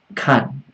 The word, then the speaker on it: 看: But here you notice I wrote 看 first tone. First tone. Am I wrong? No, actually, for this character there are two ways to pronounce it. 周末我要看孩子。If you pronounce the first tone, this 看 means not means look at. Means look after.